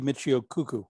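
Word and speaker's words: Michio Kaku: is a mistake me no Rob you correctly pronounced I know it should be Michio cuckoo I know Ben Jane Carl Leonard and Vincent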